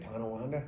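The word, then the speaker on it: Tonawanda: tananda so is that how you say it tananda yeah yeah you have no Western New York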